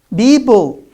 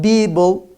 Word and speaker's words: people: tell me tell me it's incorrect because i pronounced per as ba it's not bible you can hear a lot of people saying it a lot of students say it people libel it's wrong it's people it's not people it's not people